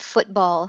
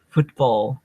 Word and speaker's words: football: why don't you repeat football three times football boots Bowl football uh-huh so I heard too nicely reduced tease and I heard one clear tea and uh it was